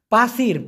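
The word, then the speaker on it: pasir: যখন দিচ্ছি দেই বাতু বি এ টি ইউ উচ্চারণটা হবে বয় আকার তরস্যু এই বাতু মানে হলো পাথর পাসির পি এস আই আর প আকার ছয় রস্যি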